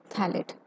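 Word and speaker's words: phthalate: कैप मतलब cellulose acetate थैलेट। ठीक है, पीएच जो है इसमें साइलेंट होता है, इसको थैलेट पढ़ा जाता है।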